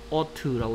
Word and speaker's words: ought: 발음은 ought라고 읽으면 돼요.